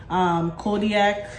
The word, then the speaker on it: Kodiak: So if you haven't tried these and you're maybe working out, trying to eat healthy, Kodiak, is that how you say it? Yeah.